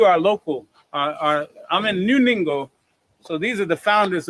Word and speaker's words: Ningo: But we're actually in New Ningo, N-I-N-G-O. Rhymes with bingo with the N.